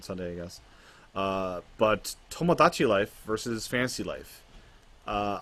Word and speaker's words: Tomodachi: in the tree house don't mispronounce tomodachi life it's pomo not tamadachi this is not a tamagotchi game so anyways tomodachi and